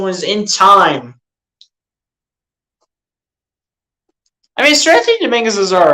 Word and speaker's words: Seranthony: That's the way his name is spelled. But it's Seranthony.